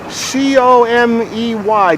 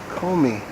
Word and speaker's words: Comey: pray got to exercise c o m e y do you know how that's pronounced out loud Comey Comey come me FBI yeah come me call